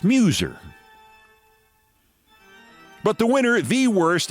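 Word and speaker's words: Meuser: Representative Dan Muser, pronounced like muse, spelled like mouser. Like the rifles the Nazis used in World War II. Just to keep it clear, it's Muser.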